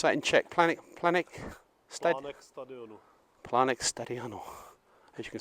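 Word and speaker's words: Plánek stadionu: How would you pronounce that in Czech? Planek Stadionu.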